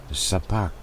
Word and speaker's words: Szpakowo: I had Google Translate and it was Szpakowo, but it's a V.